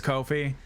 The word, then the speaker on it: Ko-fi: Weaver says, always thought it's pronounced Kofi because it is Kofi. I don't know why. I just call it Ko-Fi. It's wrong, and I know it's wrong, but I've gaslit my brain into basically thinking of that.